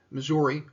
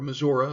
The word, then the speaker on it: Missouri: building in kansas city missouri or missouri if you prefer that pronunciation this is a more